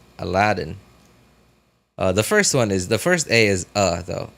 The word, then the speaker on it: Aladdin: Aladdin. Like the way Aladdin? Yeah, but I don't pronounce Aladdin as Olodin. I pronounce it as Aladdin. Ah, with an A, like apple. Aladdin.